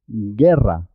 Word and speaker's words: guerra: de ji ji ji guerra no se oye no se escucha la es muda en este caso guerra leopardo guitarra águila